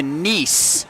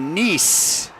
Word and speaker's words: Nice: Also being told Olivia Nice rhymes with peace.